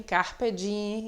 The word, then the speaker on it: carpe diem: como dia né que na realidade a pronúncia correta é o dia e me só que a gente coloca realmente não costuma dar em fazer esse fonema m então a gente fala fugere urbem carpe diem e assim por diante